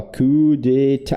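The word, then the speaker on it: coup d'état: Ah, não é T, né? Ó, Q de T. Tem um T no final.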